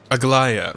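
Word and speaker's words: Aglaea: Aglaya, right, that's how you pronounce it.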